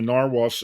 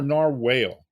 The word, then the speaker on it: narwhal: Well, let's get back to it because I know everybody here's it wants to hear about the narwhals. And is it pronounced narwhal or narwhale?